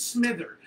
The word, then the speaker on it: Smither: the evil seeing Chris Smither because I'm so sold on that guy. How do you say the last name? Smither. So it's like Smithers, Smith, E-R, Smither.